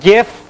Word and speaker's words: GIF: just so you know a both gif or Jif format some people say jiff even though the G stands for graphics over here which is kind of a hard G and then JPEG which